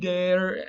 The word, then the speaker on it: guide: on with the spelling, something happened in Old French where W's at the beginning of words kind of sprouted a G, and it would have probably been pronounced guider after it sprouted the G, and then the W totally fell out, and we don't pronounce a W in guide anymore.